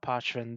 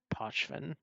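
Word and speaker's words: Pochven: The way the word is constructed, if you follow most pronunciation rules, it becomes Pochvin rather than Pochvin because there's not a hard O sound there.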